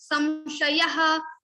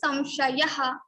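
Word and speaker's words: संशयः: So at other places you will say samshayaha, but in Maharashtra it will also can be pronounced as samshayaha. So like little bit stress, they just make it big, long.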